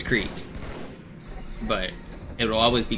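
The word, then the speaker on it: Crete: Are you the one who made fun of me for pronouncing crate in my YouTube comment?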